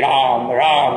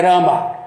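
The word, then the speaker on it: राम: Uma palavra terminada em A breve, em sânscrito, quem fala bengali come. Então não é Rama, é Ram. É Ram.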